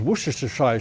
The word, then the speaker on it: Worcestershire: If you're wondering how to pronounce Worcester sauce, then the locals say Worcester sauce. And if you want to say it in full terms, it's Worcestershire sauce.